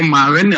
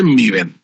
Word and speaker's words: Maven: Don't say Maven, always say Meven. Its official pronunciation Meven Gradle.